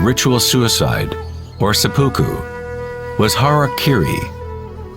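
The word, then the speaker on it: hara-kiri: suicide or seppuku was harakiri was often mispronounced as Harry Caray it means to impale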